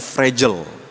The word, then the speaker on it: fragile: ada stiker tuh fragile fragile itu dibacanya fragel fragel tuh apa mudah